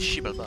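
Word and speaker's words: Xibalba: Ceux qui prouvaient leur innocence pouvaient partir, mais les coupables étaient exécutés et envoyés à Shibalba. Shibalba. Ça dit Shibalba. On prononce pas le X. Incroyable. Le X, on prononce Sh.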